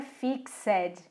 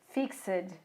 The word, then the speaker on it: fixed: O ED, ele tem uma pronúncia muito peculiar, porque nem sempre o som do E é dito, que é o caso do fixed. Não é fixed, é fixed, fixed, fixed.